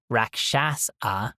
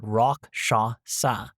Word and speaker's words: Rakshasa: mech and I had to look up a pronunciation guide from this and the conclusion was Roshasa. So not raasa but rock shasa rock shasa instead of raasa rock shasa which sounds so much fancier rock shasa.